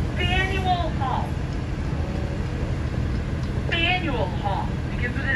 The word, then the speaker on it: Faneuil Hall: Lab's local dome on top, that is called Faneuil Hall. Faneuil Hall. Begins with an F. I specify that because it cracks me up when someone from not around here asks me where Nathaniel Hall is.